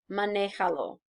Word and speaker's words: manéjalo: Okay, so drive it, if it is the truck, manéjalo. So lo would be the DOP for the truck, el camión. Maneja, the command form of drive, 1, 2 syllables back, accent on the E.